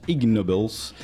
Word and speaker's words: Ig Nobel: sur les ige nobel qui se prononce ig nobels pour la la conjugaison entre le nobel et ig bau bau en anglais